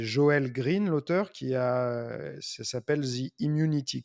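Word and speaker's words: Joel Greene: au bout mais c'est je vais me prononcer à la française c'est joël green l'auteur qui a s'appelle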